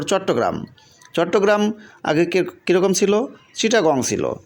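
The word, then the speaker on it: Chittagong: ভালো লাগতেছে এবং সবাই এটা উচ্চারণ করতে পারবে উচ্চারণের সুবিধার জন্য এই বানানগুলো পরিবর্তন করা হয়েছে এখন তারপর চট্টগ্রাম চট্টগ্রাম আগে কিরকম ছিল চিটাগং ছিল সি এইচ এ সি এইচ I double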